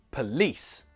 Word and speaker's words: police: Well, it's the second syllable, police. So that first syllable is not stressed.